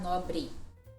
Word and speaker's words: nobre: Um exemplo pode ser a palavra nobre. E para nós vai ficar nobre.